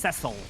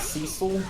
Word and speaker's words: Cecil: is also where we found out it's pronounced Cecil yeah that name is pronounced see you've never heard it pronounce Cecil only by dumb idiots well you yeah I'm not saying that's the way that name is pronounced that's just a name so it's not Cecil B DeMille I cannot pronounce it Cecil that sounds his name